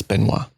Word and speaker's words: Benoit: Sorry, it's Benoit.